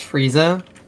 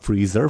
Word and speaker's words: Frieza: Your name's Frieza? Yeah. Freezer. No, not Freezer. Frieza. I think Freezer sounds better.